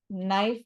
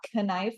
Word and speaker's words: knife: like how in English we have silent letters we say knife not K knife even though we have a k there same thing here we